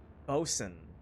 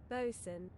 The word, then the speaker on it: boatswain: Bosen. Bosen. Bosen. Bosen. Boatswain is not pronounced boat. It's pronounced Bosen.